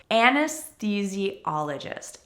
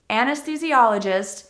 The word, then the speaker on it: Anesthesiologist: practice for pronunciation is Anesthesiologist Anesthesiologist is not pronounced with the typical th sound of or mmm we actually have a tea sound here even though it's th Anesthesiologist there are many professions